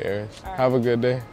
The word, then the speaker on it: Aris: Oh, so just like Paris without the P?